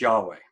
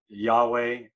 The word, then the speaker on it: Yahweh: have that today the the more scholarly uh information tells us that that's probably pronounced yahweh um so uh there's no v really in hebrew in that in that sense but you can see